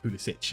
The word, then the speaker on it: Pulisic: Now he's like, because we're near Croatia, you guys can finally say it properly, like Pulisic.